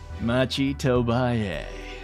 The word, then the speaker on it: Machi Tobaye: Machi Tobaye.